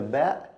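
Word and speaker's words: ب: So this is the ba. It's very simple. It's like the B sound in English, no difference.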